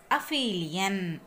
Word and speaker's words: aphelion: Please note my pronunciation. Okay. What is this? Aphelion.